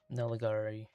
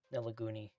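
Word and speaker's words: Nelagoney: Nelagari. Nelaguni. There we go. I think that's how it's spelled.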